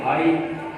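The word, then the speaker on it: high: आगे साइलेंट जी H silent कहाँ है, जैसे हाई, जी एच से पहले वॉवल आ जाए, जी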